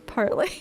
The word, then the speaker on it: parley: It seems like it's sometimes pronounced parley and sometimes parlay, so I'm very insecure about it.